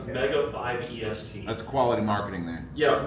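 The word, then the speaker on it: Mega5EST: Oh, so it's spelled really weird, but if you type in MEGA, the number 5, a dash, and then EST, it comes up. We call it MegaFest, but it's Mega 5 EST.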